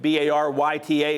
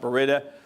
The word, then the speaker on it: Baryta: And by the way, that word Baryta, B-A-R-Y-T-A, is pronounced Baryta. It's not Baryta, it's not Baryta, just because there's always confusion over it, and so it's just so you know, it's Baryta.